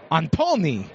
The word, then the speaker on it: Antony: It's Antony, as he told me. With about as French of an accent as you possibly could, but it sounded a little Italian to me.